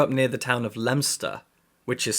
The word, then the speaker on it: Leominster: I I grew up near the town of lemster which is spelled Leo Minster and I've met a lot of people in England who've never been to lemster who think it's pronounced Leominster so it might